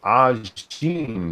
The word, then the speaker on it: Ajin: Satsu, have you seen the anime Ajin, pronounced Ajin, monkey?